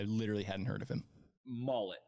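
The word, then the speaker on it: Maulet: they bring in Arthur mullet as my guess on how to say his name I can't remember it even being said out loud I literally hadn't heard of him mullet is my guess m-a-u-l-e-t from Pittsburgh slot Corner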